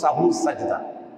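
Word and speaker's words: সাহু সিজদা: এটার উচ্চারণ শুদ্ধ উচ্চারণ হল সাহু সদা।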